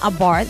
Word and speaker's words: Abarth: Se llama Abarth, bueno, así se pronuncia porque, bueno, los nombres son italianos, así es que va